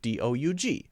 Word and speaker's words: Doug: a simple vowel sound in the case of dou G which is just pronounced Doug Doug okay so I can't